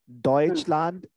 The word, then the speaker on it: Deutschland: Deutschland is German.